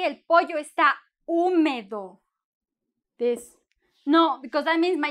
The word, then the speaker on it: húmedo: un móvil de islay húmedo húmedo con acento en la un húmedo y húmeda may para